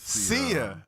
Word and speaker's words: Sia: right, let me make sure I get this pronunciation right. Okay. Is it Sia? It is Sia.